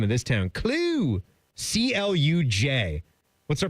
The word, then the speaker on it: Cluj: C L U J. What's her pronunciation for that Romanian town?